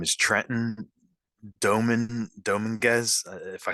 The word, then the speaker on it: Dominguez: Of course, I know how to say Trenton, but My last name's pronounced Dominguez.